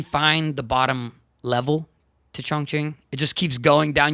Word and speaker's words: Chongqing: This is the correct pronunciation. Chongqing.